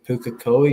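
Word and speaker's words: Pukekohe: The one the one thing that's worrying me is the rain is going to stop but this game is in Puka Koi.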